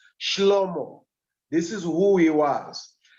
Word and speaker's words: Shlomo: I hear the Hebrews, they pronounce him as Shlomo.